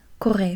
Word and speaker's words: Corée: Korea is like la Corée. La Corée. Corée. And that's spelled with a C. A C. Corée. And there's an accent at one of the E's. La Corée. Korea.